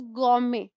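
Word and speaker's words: gourmet: बच्चों गोमे ठीक है इसमें टी साइलेंट होता है टी साइलेंट होगा दिस इज गोमे जो भी एपिक्यूरिया और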